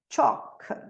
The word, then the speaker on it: chalk: Walk, talk, chalk.